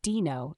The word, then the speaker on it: Deno: let's break it down so Dino pronounced Dino is not just any